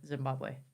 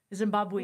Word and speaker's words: Zimbabwe: And even, and I had to adapt to, I bet you did too, because I reckon there's not much snow in Zimbabwe. Zimbabwe.